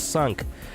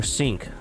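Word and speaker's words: cinq: But yeah it's the number five in French which is pronounced as sunk or sink. Uh depends on how you like to pronounce it.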